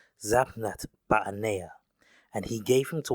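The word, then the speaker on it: Zaphnath-Paaneah: The correct pronunciation of Joseph's Egyptian name would be Zatannath Ba'anea.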